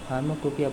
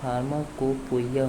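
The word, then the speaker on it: pharmacopoeia: फार्माकोपिया pronunciation फार्माकोपोइया होता है, लेकिन हम इसे फार्माकोपिया ही बोलते हैं।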